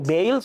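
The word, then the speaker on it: Beale: Bale se llama, pronuncia.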